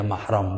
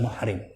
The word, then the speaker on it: mahram: yang gak boleh kediri-jatim ngebacanya mahram bukan muhrim alam muhrim Itu orange crown begini salah kaprah ya saudara kita sebut ini Mini muhrim saya salah yang bener maharam ya mahram jadi mah rame Dul siapa